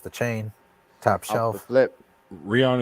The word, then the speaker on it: Rihanna: chain top shelf lip Rihanna is pronounced like Ryan really Ryan okay all